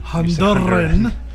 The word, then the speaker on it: Honduran: You don't have to roll your R's on Honduran. Honduran.